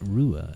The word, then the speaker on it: Ruadh: to go oh no it's pronounced ruer and someone eventually almost always goes oh is that Irish and I go yes it is Irish and then I get